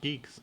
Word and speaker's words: Guix: like you can say Gwix is pronounced geeks.